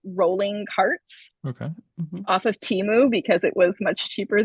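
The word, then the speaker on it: Temu: carts okay off of Teemu because it was much cheaper than Amazon were you saying it wrong were you saying it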